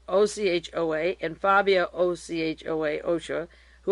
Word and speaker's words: Ochoa: He was closely associated with Pablo Escobar, Jorge, it's J-O-R-G, Jorge is pronounced Ochoa, O-C-H-O-A, and Fabio, O-C-H-O-A, Ochoa, who are brothers.